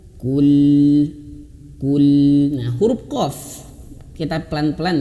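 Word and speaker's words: قُلْ: Kul. Nah, huruf qaf kita pelan-pelan ya. Huruf qaf ini ayah bunda cara bacanya adalah dimoncongkan karena dia berharokat dhammah. Kul. Nah, kul, dan huruf lam dia sedikit dialirkan. Kul.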